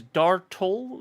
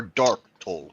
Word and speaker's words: Dartol: His name is Dartol Vazine. Dar or Dark Toll? Dar. DAR''TOL.